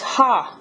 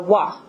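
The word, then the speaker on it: は: that I'm writing me is pronounced ha normally but when you use it in a sentence to like uh I guess modify a word like it tells you what you're doing that word's doing that subject's doing um it's pronounced uh W okay instead so Watashi Wa and then we got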